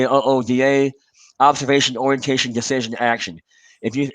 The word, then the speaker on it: OODA: combust his ooda loop i'm told that colonel boyd hated the acronym when he pronounced as uda so in reference to that i'll say ooda observation orientation decision action